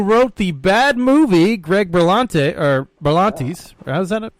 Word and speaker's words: Berlantes: guy who wrote the bad movie, Greg Berlantes, how's that pronounced? Yeah, Berlantes.